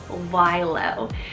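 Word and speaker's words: Wylow: of made up here is the name wilo it's spelled w-y-l-o-w- why low this is cool guys I am so happy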